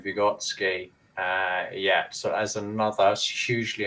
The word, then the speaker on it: Vygotsky: Vygotsky.